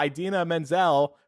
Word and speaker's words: Idina Menzel: Funnily enough, Josh Gad, who voices Olaf, he introed them, and he said, and now Idina Menzel pronounced exactly how it's spelled.